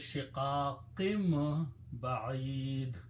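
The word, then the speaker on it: شقاق بعيد: But when noon and ba come together, then this sound of noon is pronounced as a meme. So it says shiqaqim ba'id.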